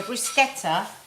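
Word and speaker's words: bruschetta: going to make a lovely brusa plate so brusketa is what thank God you said it right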